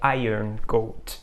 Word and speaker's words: Iron Gold: só para um disclaimer eu sei que a pronúncia correta é Iron Gold eu só gosto às